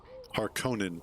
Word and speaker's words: Harkonnen: Harkonnen. Okay, that's how they pronounce it.